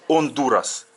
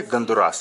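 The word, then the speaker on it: Honduras: И говорят они Ондурас. Не как мы Гондурас, а Ондурас. Потому что в испанском буква Ачи не читается.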